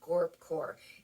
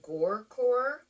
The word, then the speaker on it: gorpcore: can use the word GORPCORE, and that is how you spell it. And because at first I didn't know people were saying gorecore without a P or gorpcore with a P. It has the P.